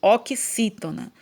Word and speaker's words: oxítona: nome de oxítona ó o x aqui tem um som do cace então eu leio essa palavra oxítona então uma palavra ela